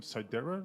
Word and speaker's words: Sidera: next to me, I have Justin from Sidera Labs, right? Did I say it right? Sidera, yep.